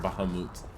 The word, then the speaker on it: Bahamut: courage is straight dude you guys pronounce it Bahama or from Kerala India in final fantasy it supposed to be pronounced as it actually is pronounced which is Bahamas fun fact that no one cares about it like drove me nuts when I found out because I was all like it's Bahamut and they're all like now it's supposed to be pronounced Bahamut mmm-hmm what is why